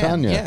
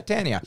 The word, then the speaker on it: Tanya: Look at the name. Is it T-A-N? You know? Yeah. Then, yeah, T-A-N. That's, well, how do you say that? Tan. Tanya. Yeah, Tanya. Well.